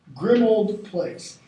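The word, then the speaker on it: Grimmauld Place: Grimald. Grimold. Grimold Place. It is a grim old place.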